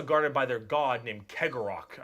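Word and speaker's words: Cegorach: by their god named Kegorok, I believe is how you pronounce his name.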